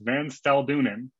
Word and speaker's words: Van Staldunen: He's left-handed, and his last name is pronounced Van Staldunen, for anyone who's ever wondered that.